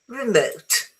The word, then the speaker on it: remote: The word remote adjective or noun is generally stress on the second syllable, not the first. Yeah, it is true. remote because it's remote.